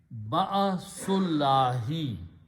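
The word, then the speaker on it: بأس الله: So when you combine and pronounce, it will be ba'asullahi.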